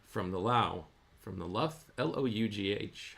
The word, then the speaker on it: lough: From the Lough? L-O-U-G-H. How do you pronounce that? Is that Lough, Robot Lady? Yes, Jeff, it's pronounced Luff, like lock, but with an L.